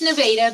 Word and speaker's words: Nevada: It's Nevada because I traveled there and they Ah. said be sure to say it correctly.